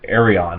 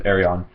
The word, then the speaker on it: Ayreon: Alright, the next one I got was The Theory of Everything by Ayreon. I think it's how it's pronounced, or Ayreon. I'm pretty sure it's Ayreon.